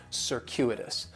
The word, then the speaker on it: circuitous: And circuitous has 4 syllables, and there's a few things going on with the pronunciation. In the first syllable, that C is going to have more of an S sound, circuitous. The stress is going to be on that second syllable, and that CU it's